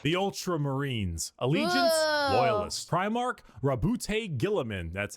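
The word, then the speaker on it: Roboute Guilliman: Primark Rabbout Gilamin.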